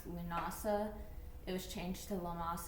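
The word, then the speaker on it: Lughnasadh: I think it's Lamas it's actually usually pronounced lunasa it was changed to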